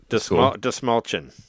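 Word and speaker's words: Dastmalchian: It's It's like It's like you're saying like the small shin the small chin but with a D.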